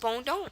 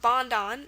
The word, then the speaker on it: bondon: n d o n it's pronounced Bond it's not bondon it's Bond and just by hearing it you can probably guess that it's from French which it is um it's